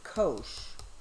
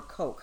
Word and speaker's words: Koch: I also think actually David Koch or coke coke depending how you pronounce it I've heard both died this morning as